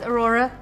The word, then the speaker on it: Aurora: It rhymes with your name, It Nora. does, Aurora.